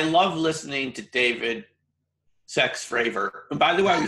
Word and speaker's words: Fravor: politically correct but obviously his last name fravor rhymes with favor so you can kind